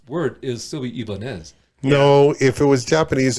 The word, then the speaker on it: Ibanez: completely made that up another uh company brand that's been mispronounced ibanez ibanez was a spanish or it should be ibanez it's a spanish company that that made guitars